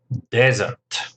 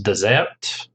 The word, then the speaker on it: desert: And of course, the Sahara is a desert, not dessert. It's not something sweet you eat after a meal. It's a desert. Stress on the first syllable.